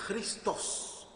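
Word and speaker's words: Χριστός: Bueno, Cristo viene de una palabra griega que es chrien, porque en realidad Cristo se pronuncia Christos en griego.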